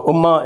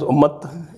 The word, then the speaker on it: Ummat: So Ummah is Ummat, Sharia is Shariat, and there are also a lot of other nuances. It's become a fashion to use the Arabic pronunciation these days.